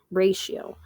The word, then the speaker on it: ratio: the pronunciation pronounced Ray she o ratio so that t is from a different language which is why the Tio makes a sh sound so a ratio is